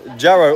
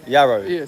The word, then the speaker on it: Jarro: It's a Jarro. Or is it Yaro? Yaro. Yaro. It's spelled with a J. It's spelled with a J. But you don't pronounce it.